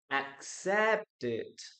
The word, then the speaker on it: accepted: Look, we pronounce the letter E here.